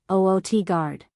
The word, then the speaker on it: Utgard: Utgard, Oot-gard. City of the Giants, in Jotunheim. Yggdrasil, Igdrasil. The World Tree. Key to pronunciation.